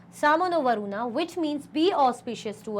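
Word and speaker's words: शं नो वरुणः: The emblem of the Indian Navy contains the motto Sam no Varuna, pronounced Samo no Varuna, which means be auspicious to us, O Varuna.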